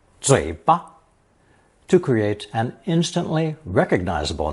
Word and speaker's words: 嘴: It's pronounced third tone, 嘴, 嘴.